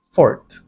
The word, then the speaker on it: forte: or isn't your Talent the technically correct way to pronounce this word is for again is common and accepted so Okay lang gamitin Pero kung alanganin ka sa pagsabi ng Forte just say it's not